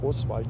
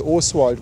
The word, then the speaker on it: O'Swald: Er sagt, ich glaube nicht, dass er so ausgesprochen wurde, wie Paddy es immer sagt. Oswald, sondern Oswald. Oswald. Ja, Oswald.